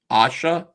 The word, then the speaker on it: Aisha: Asha? Yeah. Oh, that's how you pronounce it. Okay. Yeah, my dad's Turkish, so he got to pick my name. I'm named after his sister. So, yeah, that's how you say it.